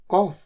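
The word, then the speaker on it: cough: I have got अ कॉफ। I have got अ कॉफ। इसे कफ या कफ दोनों तरीके से प्रोनाउंस किया जाता है। इंडिया में तो कफ ज्यादा कॉमन है।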